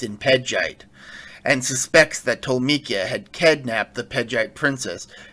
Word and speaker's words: Tolmekia: Nausicaä spots an airship approaching the valley, and Yappa realizes it belongs to the kingdom of Teriyaki. Hank, it's pronounced Tolmekia. Yeah, well, I'm gonna keep calling it Teriyaki.